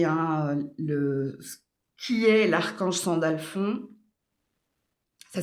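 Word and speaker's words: Sandalphon: Donc allez regarder, hein, le qui est l'archange Sandalfond. Ça s'écrit s A N D A L P H O N.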